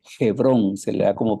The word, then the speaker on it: Hebrón: la ciudad de hebrón en el hebreo se lee hebrón se le da como